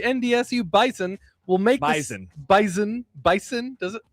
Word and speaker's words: Bison: Bison, does it? Z. It's with a Z.